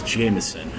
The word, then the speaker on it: JMSN: RB artist noon is Jameson we're simply spelled jmsn so it pronounces i was jeff jensen because there's been a